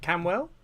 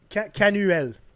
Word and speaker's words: Canuel: Is it Camwell? Canuel. Canuel. Yeah, Canuel. You can say it like that if you want.